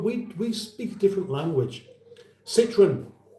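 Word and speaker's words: Citroën: Citroen, that's how we say Citroen, not Citroen. Citroen. Unless you're doing a French accent, it doesn't work at all. Citroen.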